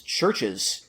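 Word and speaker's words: CHVRCHES: lately past couple years this is churches yes and uh it's spelled CH H VR C hes ches all caps and uh their debut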